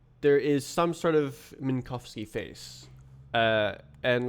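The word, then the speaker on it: Minkowski: Minkovski Minkovski is the correct pronunciation.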